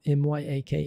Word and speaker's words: Myaku: say it i mean it's not like we can't make the sound mac mac um my ak my ak is just how you should pronounce it and um again it's